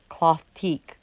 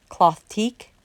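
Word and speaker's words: Clothtique: it's possible dreams and it's spelled c-l-o-t-h t-i-q-u-e cloth teak cloth teak possible dreams cloth teak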